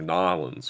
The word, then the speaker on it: New Orleans: and Montgomery, Alabama, or New Orleans, or or Nolens, for those of you, you know how to say it properly, or Houston or Dallas or Atlanta, of course.